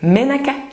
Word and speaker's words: Menaka: Menaka, en fait, que je ne prononce pas tout à fait à la malgache, qui serait plutôt, alors excusez mon accent, mais Menaka, ça veut dire huile en malgache, tout simplement.